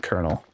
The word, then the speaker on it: Colonal: an intentional misspelling, but so I pronounce it like Colonel like the popcorn you have and it turns into needing maintenance.